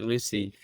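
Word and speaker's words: Lucea: uh on the Clos mon go play called Lucy spelled l us D EA but we pronounce it Lucy um and we I've only got It's a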